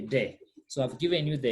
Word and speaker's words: des: Remember, s is silent, so we say de.